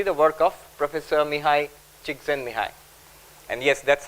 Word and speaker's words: Csikszentmihalyi: Tal Ben Shahar, and also incidentally the work of Professor Mihai Csikszentmihalyi. And yes, that's how you pronounce it.